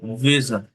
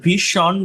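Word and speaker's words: vision: এরপর দেখেন এটা জ সাউন্ড, বর্গীয় জ যেটা, জ, ভিশন, ভিশন। এই যে ভীষণ বলি আমরা, ভীষণ, বাট এটা সঠিক উচ্চারণ অনেকটা ভিশন, ভিশন। মানে স জর একটা মিক্সড হয়।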